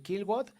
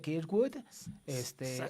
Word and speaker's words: Kirkwood: Eso de Kilwood, en lugar de Kirkwood, Alex Palau, que es